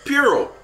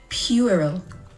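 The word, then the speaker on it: puerile: r i l e think of the Pu being Pew Pur wait what Pur Pur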